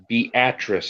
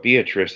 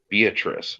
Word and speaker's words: Beatrice: and there's a town it's spelled Beatrice but it's Beatrice and if you call it Beatrice they get pissed I'm like it's Beatrice no it's not I'm